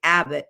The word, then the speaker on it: Abbate: Then put in my last name, which I say Abbott, but it's spelled like a bate.